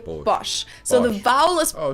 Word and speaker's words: Bosch: brand wrong per se americans usually say bosch while germans say bosh so the vowel is